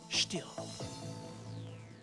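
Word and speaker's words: Stihl: Oh, and by the way, it's pronounced still.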